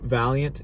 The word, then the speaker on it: Valiant: to turn the bone yeah next the The valance that I think that's how you pronounce it the Vance the valant yeah the publisher theant Valiant yeah the Valiant Valiant interesting oh my God